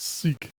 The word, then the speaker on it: syg: And I'm going to be told off for pronouncing this incorrectly, but I believe it's sick, which means sick. Yeah. That sounds SYG.